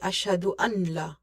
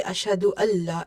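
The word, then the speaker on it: أشهد أن لا: So here is one of very important rules, and same mistake people are doing when they say ashhadu an la. It's without tajweed. When you say ashhadu Allah, it's the correct tajweed pronunciation.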